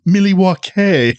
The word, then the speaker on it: Milwaukee: It's pronounced Milwaukee.